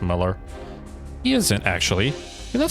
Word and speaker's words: Mueller: Is Lieutenant Colonel Mueller still inside the building? I think it's pronounced Muller.